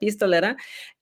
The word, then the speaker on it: Pistolera: So it rhymes with Nopalera, but Pistolera.